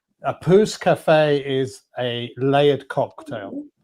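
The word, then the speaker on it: pousse: Now, poose or p u p o u s e uh now is spelled p o u s e is translates loosely as growth spurt something like that.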